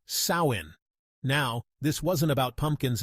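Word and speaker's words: Samhain: they had a festival called samin pronounced sawin now this wasn't about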